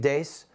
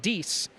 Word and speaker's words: Deace: of interviewing Steve Deace, a talk show host and author of an upcoming book, We Won't Get Fooled Again.